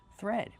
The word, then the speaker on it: thread: Thread. We have the th making the voiceless sound th with air plus the r th. Be careful, not th but thread plus the vowel e like red and bed.